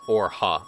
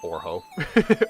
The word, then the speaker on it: Orha: It's pronounced Orha. Oh, okay. Gotcha. Gotcha. Not Orho. Orha.